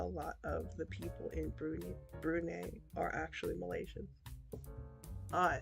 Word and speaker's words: Brunei: country and a lot of the people in brunei brunei are actually malaysians i see because